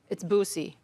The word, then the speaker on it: Buse: I've been saying Buse all these years, and it's Buse, like double O.